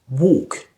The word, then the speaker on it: walk: So this is all about the pronunciation of the silent L.